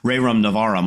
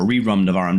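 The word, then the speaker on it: Rerum Novarum: Ray Rum Navarum or Reum Navarum depending upon how you want pronounce it that people are talking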